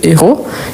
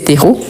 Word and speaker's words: héros: s'agit du masculin donc on dit par exemple ce héros et pas co donc c'est pour ça